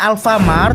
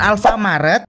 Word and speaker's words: Alfamart: Sebelumnya kalian harus tahu dulu nih, kalau si merah itu bacanya Alfamart bukan Alfamaret. Dan kalau si biru itu namanya Indomaret bukan Indomartet.